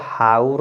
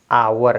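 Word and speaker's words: hour: तो यहां पे देखिए इसको हाउ नहीं पढ़ेंगे ये हाउ नहीं है क्या है आवर है इसका एच साइलेंट हो जाएगा एच लेटर साइलेंट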